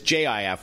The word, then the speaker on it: Jif: or gif and then the other one is ji F which is really what the product is called with a soft G and it's just you're